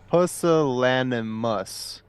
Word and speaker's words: pusillanimous: By the way, just to touch back a little bit here, it is pronounced pusillanimous, and the definition of it is showing a lack of courage or determination.